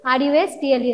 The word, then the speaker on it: rustle: R-U-S-T-L-E, rustle. Here, T will be silent.